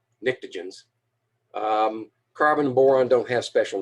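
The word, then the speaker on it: pnictogens: group is the nictogens starts with a p a silent p n i c t o nictogens carbon boron don't have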